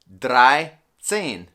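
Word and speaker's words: dreizehn: the number for instance 13 will be 3 plus 10. so it's going to be drai sen okay so that's 13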